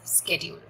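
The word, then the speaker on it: schedule: So that is what I am referring to, यहाँ पर time table, यहाँ पर शेड्यूल, प्रोनाउंस्ड एज स्केड्यूल।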